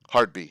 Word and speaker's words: Hardby: Hardby instead of Hard Bay. Yeah. Hard Bay is the original pronunciation of it, and then they got rid of the A. It got slurred into Hardby.